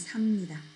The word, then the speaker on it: 삽니다: Okay, and 삽니다. Be careful with the pronunciation. 쌉니다. 삽니다.